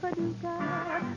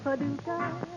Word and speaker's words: Paducah: If you want to, you can rhyme it with bazooka. But you can't poo Paducah. That's another name for paradise. Paducah, Paducah.